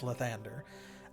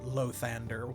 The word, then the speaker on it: Lathander: It's either Lathander or Lathander, with the accent like on the first or second syllable. But it's not Lathander anywhere.